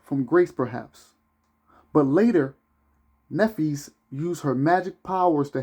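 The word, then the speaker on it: Nephthys: I said Nephis, which is spelled Nepthys, who was the dark-skinned sister of Isis, will not be the only dark-skinned sister in this presentation.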